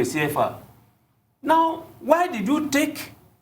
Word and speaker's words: CFA: Yes, not the CFA, CFA. You want to pronounce it the French way, CFA.